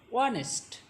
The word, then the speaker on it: honest: Honest is pronounced as honest. Here H first letter is H and H is not pronounced as ha, Bangla letter ha.